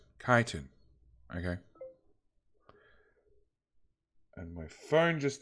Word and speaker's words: chitin: By the way, Ch-in is pronounced as K, sort of like kiting. So it's kiting? Where is this stuff? Chitin. Chitin.